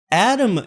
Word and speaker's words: ATTOM: Atom Data Solutions, that can be worth an online visit. It's spelled ATTOM.